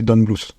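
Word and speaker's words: Don Bluth: je suis allé écouter comment est-ce que les Américains le prononcaient c'est Don Blu don Blu OK et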